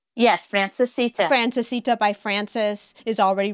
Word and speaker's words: Francesita: Yes, Francesita.